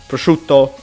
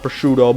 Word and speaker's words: Prosciutto: the wee pronunciation but this is actually how this word is pronounced as pronounced prosciutto not prosciutto but i'm gonna name them